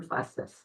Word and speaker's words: Bustos: Bustos? My mother-in-law always said it's Bustus Run Justice. Okay, Bustos. Thank you. That's fine, it's pronounced. And I am Bustus from Riverton.